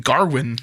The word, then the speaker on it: Gawain: And the original title of the poem is Sir Gawain and the Green Knight, which is the way that I had always heard it pronounced. In this movie, they call him Garwin.